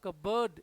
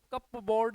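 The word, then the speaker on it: cupboard: इसका सही pronunciation कप बोर्ड नहीं है। कप बोर्ड नहीं है। कबर्ड। कबर्ड। इसका लास्ट वाला जो वर्ड है ना इसका प्रोनंसिएशन है बर्ड। यह फनेटिक लैंग्वेज में इसका प्रोनाउंसिएशन है।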